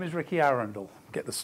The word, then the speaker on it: Arundel: day hasn't it say my name is Rikki Arundel get this pronunciation that's in the town as in the